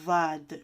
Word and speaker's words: ض: alors half vad vous va de jeu vous l'aviez bien expliqué dans la leçon numéro 7 comment le prononcer on doit mettre la langue entre les dents vad et c'est une lettre assez